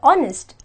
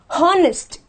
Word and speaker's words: honest: I'll tell you why when I pronounce the word honest I have to say honest and not hardest so automatically this becomes silent and the first word